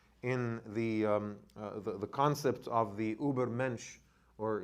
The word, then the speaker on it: Übermensch: And that sort of like came to this dramatic conclusion in the concept of the Übermensch, or if we say it properly in German, it'll be Übermensch.